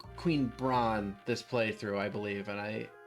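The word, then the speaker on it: Brahne: Yeah, I think actually most people who are in the Final Fantasy community actually say Queen Brain, but I don't like that pronunciation as much. Yeah, I think Queen Brawn is the better read.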